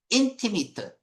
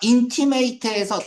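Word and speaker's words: intimate: 둘러싸인 둘러쌓여 있는 무대 뒤 무엇에 누구에 의해서 인티미트 인티미트요 뒷부분에서 이거 할게요. 인티미트이 발음이 형용사나 명사는 또는 요렇게 발음됩니다. 동사면에 요렇게 발음이 돼요. 티미트가 뭐예요? 친 밀 한 친한 명사로 쓰이면 절친이야. 절친. 근데 얘가 인티메이트에서 동사로 쓰 있을 때 별표합니다.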